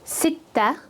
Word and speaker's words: sitta: 6 is sitta, sitta. There's a shadda on the ta.